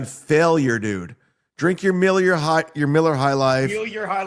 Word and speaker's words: Miller: Drink your Miller High Life. Feel your high life. Tell me when I can. Tell me Yeah, when I That's a new mispronounced brand, it. Gino. Millier.